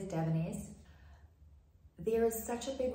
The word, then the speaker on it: Davines: So how you say it is DAVINES.